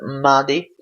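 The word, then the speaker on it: Mahdi: say my Maddie it's actually pronounced but Maddie and there is the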